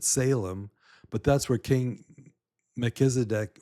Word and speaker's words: Salem: We pronounce it Salem, but that's where King Melchizedek reigned, was in that town of Salem.